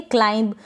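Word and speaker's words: climb: क्लाइंब पड़े या पढेंगे क्लाइंब क्लिम ना पड़े यहां पर बी का उच्चारण नहीं हो रहा है इसको क्लेम ना पड़े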